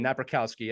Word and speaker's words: Napierkowski: to introduce Our Guest right now again na rowski again I love saying your name now that